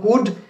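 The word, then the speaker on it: could: সো আজকে আমরা যে বিষয়টি নিয়ে কথা বলছি সেটি হলো কুড, এবং কুড শব্দটিতে একটি সাইলেন্ট লেটার রয়েছে, অর্থাৎ যেই লেটারটি, যেই অক্ষরটি উচ্চারিত হয় না।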